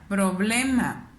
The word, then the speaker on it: problema: ¿Dónde suena más mi voz al pronunciarla? Problema, problema. Me doy cuenta que es en el ble, que sería la penúltima sílaba, por consiguiente es grave.